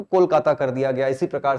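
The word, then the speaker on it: কলকাতা: और फिर आजादी के बाद जो कालीकाता शहर जो गांव था, इसका अगर हम लोग बंगाली प्रोनाउंसिएशन देखें तो बंगाली प्रोनाउंसिएशन में ओ की प्रधानता होती है, तो ये लोग कोलकाता उसको बोलते हैं।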